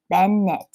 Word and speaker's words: Bennett: way to remember it with bennett fracture you have two syllables ben knit so you can think